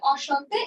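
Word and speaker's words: enchanté: আচ্ছা, তাহলে এখানে দেখেন অসন্তে, উচ্চারণটা কি? অসন্তে, অসন্তে, এইটুকের উচ্চারণ অ সন্তে, অসন্তে।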